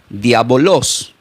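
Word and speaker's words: διάβολος: Y esta palabra que aparece en el Nuevo Testamento del griego se pronuncia como diabolos.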